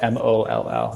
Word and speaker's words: Moll: Sounds like A, pronounced O, MOLL.